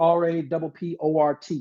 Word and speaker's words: rapport: Socratic, named after Socrates, S-O-C-R-A-T-E-S, and then rapport, R-A-P-P-O-R-T, rapport, pronounced rapport, from the root word in France.